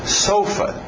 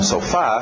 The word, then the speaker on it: sofa: Talvez, tem que tomar cuidado com o ritmo. Sofa. Mudar o ritmo e não sofá, ficar sofa.